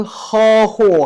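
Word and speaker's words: 呵护: 그래서 여기 하나 봐보시면 허후 孩子们的成长路 허후라고 읽어요.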